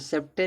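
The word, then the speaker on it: sceptre: सी silent होगा देखो इसमें सेप्टर दिया है ना तो सेप्टर में यहां सी क्या है साइलेंट है।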